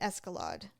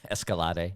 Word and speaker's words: Escalade: Anyway, so the reason I said I I almost wouldn't mind an escalad. Escalad. Escalade.